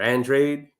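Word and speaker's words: Andrade: it man because honestly the Andra or Andre that's how he likes to pronounce his name I don't really think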